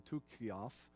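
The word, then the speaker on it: Tychicus: he and tickius or depending on how you tickiest way i'd say it english but it's really would be tu kios in more of a greek pronunciation but their two men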